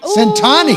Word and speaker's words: Centani: Is it pronounced Steve Centani? Centani.